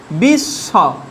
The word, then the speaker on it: বিশ্ব: বিশ্ব, বয় হস্যই তালব্য স, তালব্য স, বিশ্ব, এইভাবে উচ্চারণ হচ্ছে।